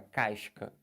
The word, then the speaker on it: casca: Mas se você tem um SC e depois tem um A, por exemplo, aí você pronuncia. Como, por exemplo, aqui, ó. Olha essa palavra, casca. Na palavra casca, né, você tem SC. Mas isso aqui vai ser dígrafo?